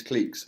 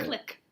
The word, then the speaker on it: clique: How do you say Click. it? How do you spell it? CLIQUE. How are you saying that as click then? That's clique. No, it's click.